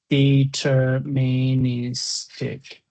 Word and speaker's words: deterministic: Well, the stress of the pronunciation, let me say deterministic.